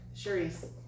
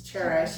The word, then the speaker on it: Cherish: Charisse. So number 2, what opportunities for improvement have you encountered? So I have. I'm sorry I said your name wrong. It's Cherish.